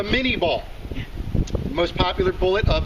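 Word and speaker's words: Minié: took a french captain named menye to come up with the menier ball or as we americans love to pronounce things the way they're spelled the mini ball the most popular bullet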